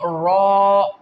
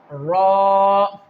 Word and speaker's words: ر: During the recitation and during the pronunciation of the letter Ra, you have not to make it like R. Okay? Only Ra, Ra.